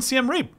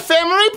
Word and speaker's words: Siem Reap: Siem Reap was actually the name of the lady boy. No, it was not. no, Siem Reap, no, why you lie? He's mispronouncing it. It's Siem Reap.